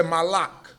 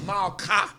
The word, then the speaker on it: Malka: In Aramaic, you say Malak or Malka. That's how you say it, Malka in Aramaic.